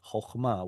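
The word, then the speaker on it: חכמה: So that must be a short O sound, chochma, which originally comes from an oo vowel, but Hebrew turned into an turned into an O vowel.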